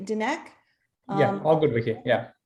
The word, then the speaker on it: Dinek: going to have dinner uh i hope i pronounced your surname correctly dineck yeah all good wiki yeah yeah dineck is